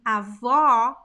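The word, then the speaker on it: avô: same sound okay and and avo or is more closed ava a which means grandfather the pronunciation of the closed o is similar to the words like old though o o is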